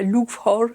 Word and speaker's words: Loughor: Dieu m'appelle à retourner dans mon église, qui était alors je ne sais pas le dire en gallois, Loughor, un nom comme ça. Ça s'écrit Lougor, mais on ne dit pas comme ça en gallois.